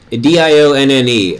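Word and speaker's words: Dionne: Dion, D-I-O-N-N-E. I'm pretty sure it's Dion, right? I think we may have talked about this before. Correct me if it's not pronounced that way.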